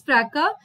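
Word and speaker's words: fracas: And this word fraka, it's pronounced as fraka.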